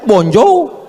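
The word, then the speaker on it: bonjour: Emangnya bahasa Perancis mudah tulisannya bonur bacanya bonjou. Bon soir, bonsoa.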